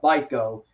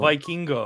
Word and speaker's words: Vikingo: it's Vikino. Yeah. I can't pronounce his Spanish No full name. problem. So oh, it's just Viking Go. is how I remember it. Vikingo. Vikingo. Like Fandango.